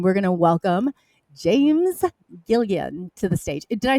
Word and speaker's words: Gilliland: Did I pronounce that correctly, or is it? Yeah, Did I need a? Yeah, Gilliland.